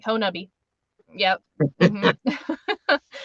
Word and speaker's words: Honobia: and I was like, oh, it's Honubia, and they're like, well, there's like 10 different ways to pronounce it, and I was like, not if you're from there.